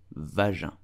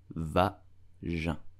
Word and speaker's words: vagin: You will say vagin. Vagin. Vagin. Please do not pronounce it vagin. It's vagin.